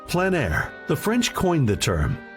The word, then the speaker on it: plein air: we cover the world of outdoor painting called plan air. The French coined the term which means open air or outdoors. The French pronounce it plan air. Others say plain air.